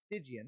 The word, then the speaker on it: Stygia: That's how you say it, not Stygian. Stygian. The problem was that only the 3 Gray Sisters knew the way to Stygian.